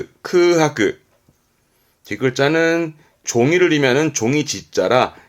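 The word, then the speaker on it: 空白: 발음은 크하크.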